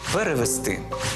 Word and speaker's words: перевести: останній склад занесли прибули до речі так само само наголошуються дієслова віднести принести занести перевести третя помилка так само